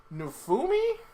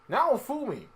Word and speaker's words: Naofumi: So, Rise of the Shield Hero follows Nufumi, I believe is how you say his name. I cannot remember how you say his name. Naofumi. I was close.